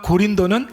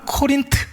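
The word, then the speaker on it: Corinth: 예, 우리 교회도 부산 출신들이 좀 덜어 있으신데, 그러니까 고린도는 항구 도시입니다. 영어 발음으로는, 우리나라 발음으로는 고린도 이렇게 발음을 하지만 영어 발음으로는 코린트 이렇게 발음을 해요.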